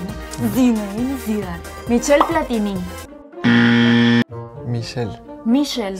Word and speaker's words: Michel: Michel. Michel. Sin la T. No hay T. Michel. Yo dije Michel. Ajá. Sin la en México Michelle.